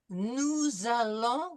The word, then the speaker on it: nous allons: Nous allons, we're going to make this liaison between the S and the A, and it's going to be with a Z sound.